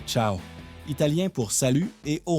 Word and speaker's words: ciao: Voici la Vespa Ciao, prononcée ciao, italien pour salut et au revoir.